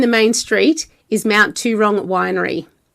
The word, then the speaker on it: Towrong: So we've got Adam, the winemaker, and George, the owner of Mount Towrong. Yep. Is that how you pronounce correct.